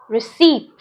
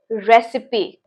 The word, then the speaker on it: recipe: How do you pronounce this word as? Some people call it as receipt.